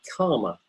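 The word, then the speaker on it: kāma: a translation of Dharma karma karma that's K a with a with a line over it which means it's a long a K long a and a karma and it's the same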